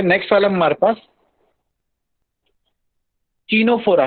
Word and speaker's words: Ctenophora: जैसे सामने आपको जो डायग्राम दिख रहा है वो टीनोफोरा का है, और टीनोफोरा सी से होता है, ठीक है ना। सी साइलेंट है, ठीक है।